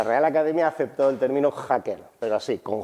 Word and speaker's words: hacker: charla decir cosas como hacker hackear hackeo y hackeando vale siempre y cuando pronuncie la J con fuerza de las dos definiciones